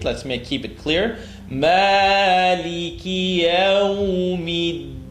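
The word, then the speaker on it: يَوْمِ الدِّينِ: Maliki yawmiddin. Try not to say deen, duh. Bring your tongue to behind the top two teeth.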